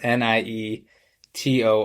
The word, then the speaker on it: Nietor: It's spelled n i e t o r.